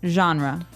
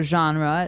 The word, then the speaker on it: genre: pronounced differently we say genre genre or genre this kind of sounds French is it French I think it comes from French uh it's a g word so genre it's a soft soft